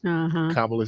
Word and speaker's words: Kamala: Well, that's how they helped us learn how to pronounce Kamala Harris. Remember, it's a comma.